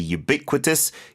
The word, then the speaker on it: ubiquitous: Yeah, the start is not a Y-O-O. It's a U, which usually is like a sound, but in this case, just said like the letter.